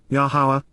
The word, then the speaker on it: Yahowah: these are weeds and W yahwah yahawah the proper pronunciation of the name of iloa God has directed in